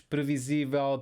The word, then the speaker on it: previsível: Então, novamente, palavras terminadas em L, nós vamos colocar a sílaba tónica na última sílaba, a não ser que existam acentos nessa palavra. Flexível, flexíveis, previsível, previsíveis, tangível, tangíveis.